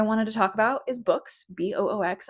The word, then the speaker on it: Boox: The other company that I wanted to talk about is Books, Boox. I used to call it Box, but I know now that's not the correct way to pronounce it.